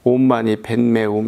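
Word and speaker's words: 옴마니 파드메 훔: 관세음보살 육자 대명왕 진원이라고 우리 불자들이 많이 하고 이웃나라라도 좀 먼 나라긴 하지만 티베트 달라이라마 이분도 온마니 반매움 이렇게 발음이 들리지만 우리가 생각하면 그냥 온마니 반매움이고 원어는 온마니 파드메 훔입니다.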